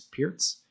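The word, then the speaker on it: Pirc: french defense carol khan i used to pronounce that perk but i believe it's pierce defense queen's gambit in various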